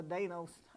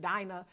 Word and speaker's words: Dinah: mention of Dinah, and I like to call her Dana. I don't know what happened, was in my head so deep from years ago, but I'm pronouncing it Dinah.